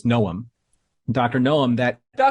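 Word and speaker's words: Noum: and I always get his name wrong, forgive me. It's Noom.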